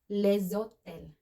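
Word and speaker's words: les hôtels: Kaya naman pag plural na hotel, maraming hotels, the hotels in French we say leszotel.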